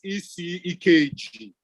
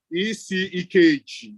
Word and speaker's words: Ikeji: My name is ECEKG. ECEKG. It's spelled IKEJI.